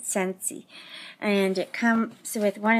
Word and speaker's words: Scentsy: I have to learn to say it right sensey and it comes with one of these things